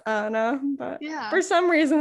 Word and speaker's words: Annah: name is it anna it's anna i just got an h at the end because i'm cool michael